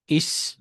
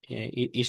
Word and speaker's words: ich: যেমন আমরা যদি ICH বলি, এটা হচ্ছে আম, আহ, ইস, ইস বলা হয়। হুম, ইস বলা হয়।